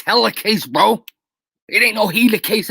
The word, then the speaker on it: helicase: It's helicase, bro.